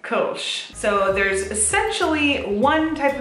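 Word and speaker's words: Kölsch: I feel like the way you pronounce it is like Kolsch.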